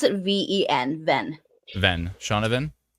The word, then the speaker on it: Shaunavon: pronunciation person of all time so ven V pronounce it ven ven ven shavan not shaunavon correct might adding a little bit too much